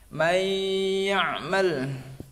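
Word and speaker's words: مَن يَعْمَلْ: Intinya nun mati atau tanwin ketemu dengan salah satu dari 6 huruf ini, maka dibacanya masuk. Akan dibacanya adalah masuk. Contoh ya, contoh satu aja. May ya'mal.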